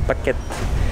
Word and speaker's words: Pak Kret: ça se dit coquette c'est comme paquet ça s'écrit pas crête avec un r mais ça se dit paquet en thaïlandais allez c'est parti on